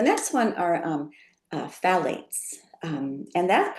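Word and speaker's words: phthalates: Um so the next one are um uh phalates. Um and that's pronounced um it's ph h a l a tes but it's pronounced phalates.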